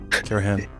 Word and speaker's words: Karahan: on, as you say, I want to say it like I'm British. Karahan. Is that right? Karahan. Yeah. Tepe. Yeah. I'm working on it. Yeah, thanks. That's proper. That's the proper way.